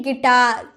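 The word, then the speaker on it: guitar: है वावेल रहता है तो हम यू का उच्चारण नहीं करते हैं तो इसे बोलेंगे गिटार गिटार जो हम लोग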